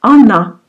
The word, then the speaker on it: она: O, you don't pronounce, you instead of O, you pronounce A. Anna is written O-na. You pronounce Anna.